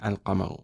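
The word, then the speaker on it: القمر: And it's the same as just saying al-qamaru, right? Now, if you notice, we say al-qamaru. Is the lam pronounced? Yes, the lam is pronounced.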